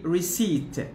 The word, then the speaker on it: receipt: the p is mute we don't pronounce the p so we don't say received but we say re receipt receipt okay when you when